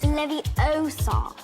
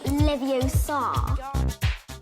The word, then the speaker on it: Leviosa: It's Leviosa, not Leviosa.